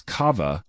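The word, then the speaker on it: קו: The word line in the verse spelled as kava containing a superfluous a at the end which is actually pronounced kav.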